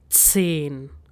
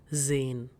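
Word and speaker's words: zehn: So hence pronunciation is to so and number 10 is sane and not zane.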